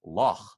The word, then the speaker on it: Loch: And then there's the H, which is like at the end of the name Bach, or actually, if you're Scottish, the word for lake is Loch, Loch Lomond.